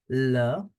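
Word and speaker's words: le commissariat: station in French as laar laar the T in the end is for decoration 2 s between two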